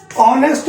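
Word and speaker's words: honest: इसमें एन लगाते हैं ऑनेस्ट बोला जाता है होनेस्ट लिखा गया है इसके अंदर तो एच जो है वो क्या है हमारा साइलेंट है इसलिए इसमें क्या लगाएंगे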